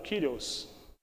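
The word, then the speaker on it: κύριος: Em grego ela é pronunciada como Kyrios.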